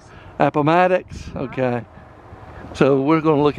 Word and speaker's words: Appomattox: brigade until the surrender at a palm attacks i didn't pronounce that right after the war benny returned to columbus resumed his law practice he died on july 10 1875.